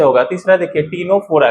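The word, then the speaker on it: Ctenophora: तीसरा देखिए, टीनोफोरा किससे होगा? है ना, सी साइलेंट होता है, इसका एक एग्जांपल है टीनोप्लाना।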